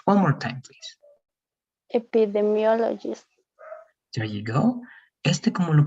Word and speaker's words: epidemiologist: Y si lo leemos más rápido, el estrés va a estar en esta parte. Epidemiologist. One more time, please. Epidemiologist.